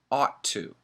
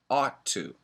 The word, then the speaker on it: ought: pronunciation in America is ought to ought to it's an aw sound ought to and we